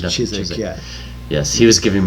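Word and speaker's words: Chiswyck: That's how I pronounce it, Chiswick, yeah. Yes, he was giving me the English version of the pronunciation. W is silent.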